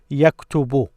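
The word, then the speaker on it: يَكْتُبُ: it because of this so you pronounce this as yak tubu yakutubu now notice what happened here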